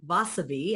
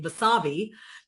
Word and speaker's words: Vasavi: else and I had a name like vasavi and everyone would mispronounce it and call me wasavi and I would not